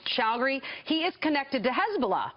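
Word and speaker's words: Chagoury: How do you pronounce his last name? Shougri.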